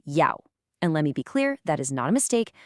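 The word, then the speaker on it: 幺: I did not say ye, which is the standard textbook pronunciation we all learn on day one. I said yao.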